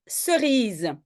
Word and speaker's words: cerise: une cerise oui donc j'écris C hein parce que je veux prononcer comme S et c'est le cas avant e ce rise citron oui